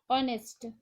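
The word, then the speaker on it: honest: इसमें silent letter क्या है? सही उत्तर है H, ऑनेस्ट।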